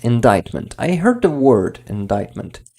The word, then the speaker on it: indictment: So it's not, C is not pronounced. Indictment.